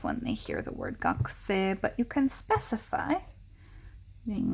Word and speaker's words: 学: uh and the fundamental the most typical pronunciation of this is going to be gakku gaku so just for some